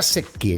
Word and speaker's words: Secchi: Sí, se pronuncia Secchi, sí, porque es italiano.